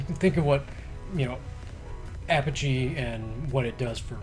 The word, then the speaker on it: Apogee: the list it's not it's not a Pocky it it's a I've always heard Apogee Apogee I've heard that with you I don't know I never knew that so I might have been saying it wrong my whole life it's a shout-out to LGR because he always says Apogee so I'm gonna go with him okay there you go all